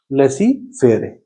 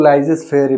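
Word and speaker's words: laissez-faire: तो ये होता है हमारा कॉन्सेप्ट ऑफ लेसी फेयर। इसको कुछ लोग लाइजेस फेयर भी कहते हैं, ये आपका अपना प्रोनाउंसिएशन है।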